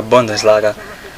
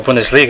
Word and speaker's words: Bundesliga: you know the Liga the buis laga you know ber or bundes laga pronounce it um or Bundesliga actually my bad and you know the